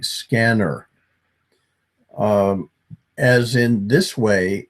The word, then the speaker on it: SCENAR: We pronounce the device name like scanner.